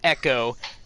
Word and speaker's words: Ecco: article echo chico echo it does not matter if they wanted it to be pronounced echo they would have said e-c-h-o not e-c-c-o okay but that's not